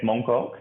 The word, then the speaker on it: Mong Kok: the flower did i say it right yes mong kok that's it yeah yeah i love that flower